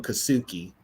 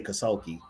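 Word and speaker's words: Karl Kassulke: He couldn't say his name, so he called him Kasuki. He couldn't say Kasulki.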